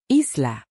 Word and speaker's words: Isla: Isla. Like the island isolated but stubborn.